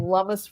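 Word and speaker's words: Lummis: US senator from Wyoming lamus rhymes with hummus so that's that's I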